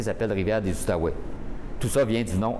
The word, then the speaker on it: Outaouais: les fours eux mais les français prononcés outaouais et les anglais prononcer à tahoua donc c'est pour ça